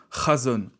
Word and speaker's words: chazown: mot du mot razones s'écrit chazottes mais qui se prononce razones razon c'est un mot